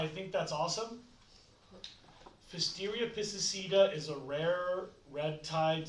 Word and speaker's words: piscicida: Please write down, if you're curious, just for nerds, Pfisteria piscicida. It is spelled Pfisteria. That's Pfisteria. Pfisteria. Pfisteria. Piscicida, like killing fish. Pisces, like homicide, but for Pisces.